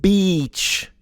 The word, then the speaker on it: beach: We need we need to explain to the Spanish guy and the Russian girl that the pronunciation is beach. Beach. It's a long e.